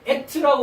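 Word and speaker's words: אֶת: 이렇게 에트라고 우리가 발음을 합니다.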